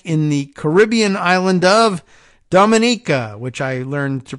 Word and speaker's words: Dominica: the Caribbean island of Dominica which I learned to pronounce last time I came up and I said Dominica not like Dominican Republican but Dominica which yes is where